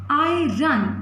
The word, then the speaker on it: iron: For example, we have gold, silver, iron. That is not iron, that is iron. R is silent over here.